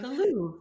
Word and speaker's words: Louvre: We got in, did like the Louvre, which people are making fun of me for saying that wrong. I say everything wrong. The Louvre. That's how you say it.